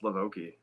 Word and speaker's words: LaVoki: So, pronounced LaVoki.